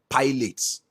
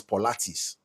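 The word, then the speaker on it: Pilates: I made this I made this content about pilotes you know that exercise that women do now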